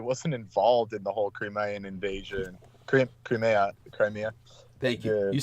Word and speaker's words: Crimea: But yeah, it was just like, he's saying all this as if everyone doesn't know that Zelensky wasn't involved in the whole Crimean invasion.